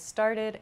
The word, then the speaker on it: started: pronunciations so for example start becomes started it has an ID sound it's not an ed